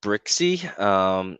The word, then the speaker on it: Brzykcy: Yeah, so it's spelled BRZYKCY. Oh, that's Brixey.